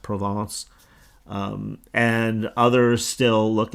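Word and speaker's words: Provence: at an area like provance it's it's actually written like a province pronounced provance um and others still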